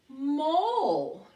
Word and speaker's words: mole: Mole. Yes, mole. M-O-L-E. The silent E makes that O long.